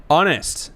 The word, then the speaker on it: honest: Honest. The H is silent.